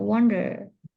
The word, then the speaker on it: wonder: Nah, jadi der itu jangan seperti peace ya, kayak wonder. Itu Indonesia banget gitu ya. Jadi wonder gitu, wonder. Agak di gimana ya, tebal, wonder.